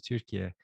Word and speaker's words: Türkiye: How is it in Turkish? Türkiye. Turkey.